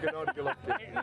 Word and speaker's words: Gennady Golovkin: Gennady Golovkin, I said it wrong obviously, but yeah, but Gennady Golovkin.